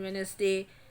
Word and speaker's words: Wednesday: in this also your d silent in wednesday knife in knife k